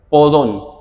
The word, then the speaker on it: podón: Podón. Podón con acento en la última O.